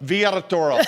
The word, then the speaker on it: Villatoro: think it's pronounced Villatoro. Woo! And did I do it right? Villatoro. Villatoro. I grew up in San Antonio, so I can take my L's and make them Y's.